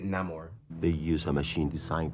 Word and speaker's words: Namor: think I always say they say Namor but he pronounces it no more they use a machine